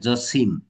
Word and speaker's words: জসিম: practical কথা জসিম জসিমউদ্দিন নয় কিন্তু বানানটা কিন্তু উচ্চারণটা কিন্তু হবে জসিম কারণটা বিদেশী শব্দ যেমন সালাম যেমন মাসুদ খেয়াল